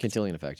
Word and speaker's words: Cantillon: You talk, is that where I have I think you mentioned how is it pronounced? Cantillon effect? Cantillon effect, yeah.